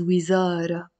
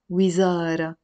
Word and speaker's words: وزارة: وزارة السياحة, the word on its own is وزارة, وزارة, وزارة يعني ministry, but here I have to pronounce the تاء مربوطة. وزارة السياحة, سياحة, السياحة يعني tourism. وزارة السياحة, the Ministry of Tourism. But even better, I can pronounce it وزارة السياحة. Almost like there's an imaginary كسرة here under your تاء مربوطة.